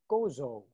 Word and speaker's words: Gozo: traveled to godzilla today to live here so gozo that's it how do you does that pronounce g-o-z-o correct uh g-o-z-o it's goto yeah